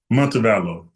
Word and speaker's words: Montevallo: How do you How do you pronounce Is it Montevallo? Montevallo.